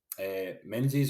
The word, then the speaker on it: Menzies: my name is Menzies or is actually the pronunciation that I go with which is the traditional way but that's fine it's